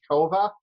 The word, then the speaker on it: Kovah: talk to you great did I uh pronounce everything correctly it's and your last name is kova yep that's correct okay great just wanted